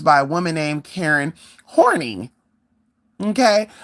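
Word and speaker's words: Horney: a woman named Karen Horny. Okay. And not spelled like horny, horny, horny, but spelled like hornet.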